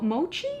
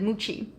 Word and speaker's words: mochi: came out with a red bean mooch Mo Mochi muchi how do you say that moochi I have had that when I was in